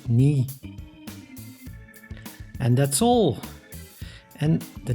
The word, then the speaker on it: knie: dunk which means thanks and for the English C plus n we pronounce both so KN means knee and that's all and